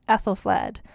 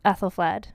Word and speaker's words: Æthelflæd: They all start with that letter that's like A and E smushed together, which I believe is pronounced like an A.